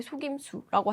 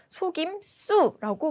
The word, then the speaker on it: 속임수: 비슷한 사례로요. 속임수를요. 여러분 발음하실 때 속임수라고 하시죠? 이게 아니라요. 속임수라고 발음해야 맞는 겁니다.